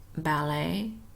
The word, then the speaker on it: ballet: s in those words silent T ballet buffet and listen silent G sign and